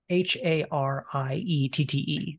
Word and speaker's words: Hariette: Hariette. So different spelling, similar pronunciation. Say it again. It's what? It's Hariette.